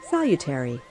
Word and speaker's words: salutary: Salutary. Yeah, that's how you pronounce it.